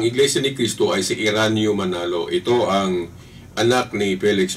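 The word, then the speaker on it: Eraño Manalo: minister pala ng iglesya ni kisto ay si Iran manalo ito ang anak ni Felix Manalo dah naak ni Felix Manalo bilang leader pinalitan ito ng anak pinili nila yung anak na si Iran manalo By the way Bakit may kahalili ang tungkulin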